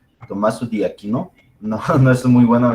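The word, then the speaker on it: Tommaso d'Aquino: Su nombre real es Tomás de Aquino, pero es un nombre italiano que busqué la pronunciación y es Tommaso di Aquino.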